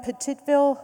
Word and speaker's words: Petitville: turn it over to my fellow co-chair, Yvonne Petitville, who will offer a perspective on the work program that we are concluding on just this year.